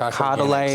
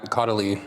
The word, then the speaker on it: Caudalie: He always uses all these things that I can never pronounce, like Caudalie or Caudal. Caudalie.